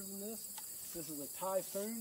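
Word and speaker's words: Tajfun: one size larger than this this is a typhoon it's spelled Taj fun but pronounced typhoon it's a three-point hitch mounted forestry winch designed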